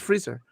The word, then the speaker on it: Freezer: the second is frieza oh in spanish it's freezer oh